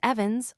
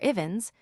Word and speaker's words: Evans: Miss Evans, or Ians, to adopt the pronunciation most in vogue with her circle of acquaintance, had adopted in early